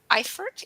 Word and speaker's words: Eifert: I'm excited to have as our guest because I'm really wanting to learn here and know more about Eifert. Am I pronouncing it right?